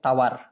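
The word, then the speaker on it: tawar: এই পানসেটাকে বলা হয় তাওয়ার, টাওয়ার না কিন্তু আবার, হ্যাঁ সেই টুইন টাওয়ার না, তাওয়ার, তাওয়ার। এই টি কে ওরা উচ্চারণ করে ত, ত তাওয়ার মানে পানসে।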